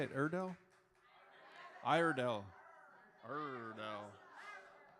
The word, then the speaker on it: Iredell: Iredell? Iredell. Iredell. Ardell?